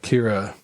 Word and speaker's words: Akira: but the animation in Kira and I guess it's pronounced like Acura or something like that where it's just like a different stress on different it holds up.